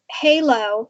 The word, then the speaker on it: Hèilo: so the name of the company is Halo but it's it's spelled different it's h e i l o and we have an accent over the E to make it an a sound and I created that